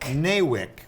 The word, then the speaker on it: NAWIC: the name of the group how do you pronounce the nawik neywick stands for national association of women in construction